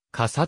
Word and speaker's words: 傘: なくサスである現代日本語の傘の読みは日常会話では日本語固有語である大和言葉を用い訓読みして傘と発音することがほとんどである